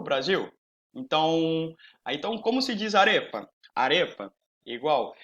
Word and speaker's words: arepa: Então, como se diz arepa? Arepa, igual. Como se pronuncia arepa? Arepa, é igual.